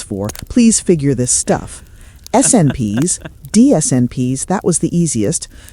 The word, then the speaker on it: SNP: Oh, by the way, it was one of my neighbors who told me that these SNPs are actually pronounced as SNPs.